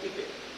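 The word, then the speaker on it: pipette: ये देखो इसको कहते हैं पिपेट, ठीक है, हाँ PIPPET है ना, और अमेरिकन इंग्लिश में पाइपेट भी कहते हैं।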